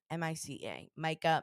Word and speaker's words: Mica: It's got to be Micah. I was like, is it Mica? No, it's No, definitely you're saying it. Micah.